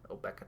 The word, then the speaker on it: Obeka: end-of-turn shenanigans, even though Obeka does have blue. Yeah. Nice that you mentioned it at the end of turn. But I prefer to pronounce it Obeka specifically because it rhymes with Topeka, but that's my opinion.